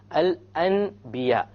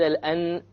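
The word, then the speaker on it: الأنبياء: So we don't pronounce it Al-An, we change the Noon into a Meme, and then we do a Ghunnah, okay?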